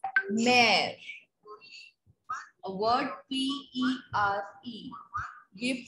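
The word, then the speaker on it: mère: Suppose there is a word M-E-R-E, which means mother. We pronounce it as mare.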